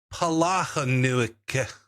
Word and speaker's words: Palahniuk: Palahniuk.